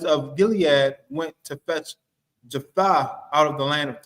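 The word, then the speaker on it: Jephthah: I spell it. Um, Jeffa out of the land of Ja. That's it. Jeffa.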